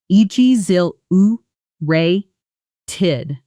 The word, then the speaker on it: exhilarated: Pronunciation. E G zil uh ray tid. Exhilarated.